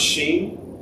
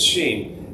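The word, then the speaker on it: 心: is sh it's pronounced Sheen it's written like x i n but it's Sheen and it's the same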